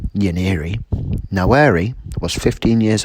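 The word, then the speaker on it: Nwaneri: Foster an attacking midfielder whose surname is pronounced yaniri now Erie was 15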